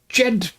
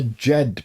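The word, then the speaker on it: Djed: For example, in ancient Egypt, tomorrow was the day that was the raising of the Jed pillar. The Jed pillar, DJ E D, more or less.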